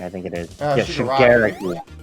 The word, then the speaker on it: Shigaraki: Yeah, Shigaraki. Shigaraki. That's how they say it in the anime. Shigaraki. I think that's how they pronounce it in the dub, because that's what I watch.